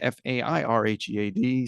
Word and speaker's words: Fairhead: Fairhead, Fairhead, spelled like it sounds.